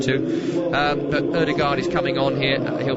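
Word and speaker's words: Ødegaard: himself in english football there are a few people doing some varied pronunciations of martin erdogar i'm going to wrangle wrangle-size it because i am english you you could do the full norwegian if you want to um but erdegaard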